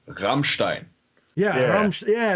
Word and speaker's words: Rammstein: It was in his throat. Do it again. Okay, so you don't say Rammstein, you say Rammstein.